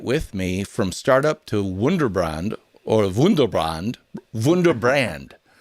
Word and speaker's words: Wunderbrand: called, say it with me, From Startup to Wunderbrand, or Wunderbrand. Wunderbrand. How do you say it, Nicholas? Wunderbrand.